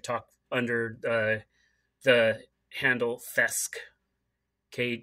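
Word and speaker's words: kthesque: under uh the handle fesc okay spelled with a K the K is silent but it's uh k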